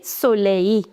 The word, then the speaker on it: soleil: So, ideally, you should have pronounced this last L also, but this is an exception. You say soleil.